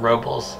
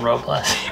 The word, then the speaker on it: Robles: Robles, not Robles.